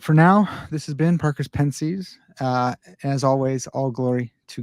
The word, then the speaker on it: Parker's Pensées: like stoic fashion, you've got the conversations that Parker's Pensées, right? It's how you pronounce it.